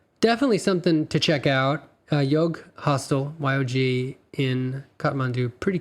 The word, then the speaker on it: Yog: It was called the Yog, Y-O-G hostel, which I would years later find out was the original pronunciation of the word yoga, apparently.